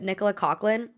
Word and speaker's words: Nicola Coughlan: I'm also wondering if Nicola Coughlan, I learned that's how her name is pronounced the other day.